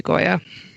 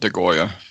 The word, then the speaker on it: Goya: sure 100 yeah yeah it's goya it's not it's not dagoya you can feel free